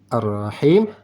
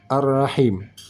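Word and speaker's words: الرَّحِيم: dengan di sini arrahmanirrahim sama-sama ra ini huruf ra bertasydid tidak perlu dipakai wau mati ha yang ini ha di tengah Kong Ha ini dibacanya di tengah kerongkongan Begitu juga dengan arrahim tidak dipakai wau sukun untuk memasukkan bacaan ra bertasydid dan Ha ini tidak ditambah dengan em tasdid rahim begitu juga di sini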